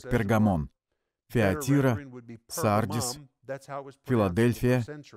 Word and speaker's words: Пергамон: церквей эфес смирно бергом название этого города произносилось первом веке как пергамон фио терра sargis филадельфия